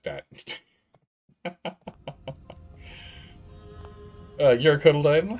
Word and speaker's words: cotyledon: What is a cotyledon? Cotyledon. It's pronounced cotyledon.